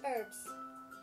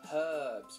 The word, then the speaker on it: herbs: sugar beetroot what's that herbs herbs we pronounce the h i say herbs too unless they say herbal